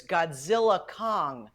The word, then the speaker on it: Godzilla x Kong: Titans team up but the x is silent according to Warner Brothers so it's Godzilla Kong the new Empire wait Tera if we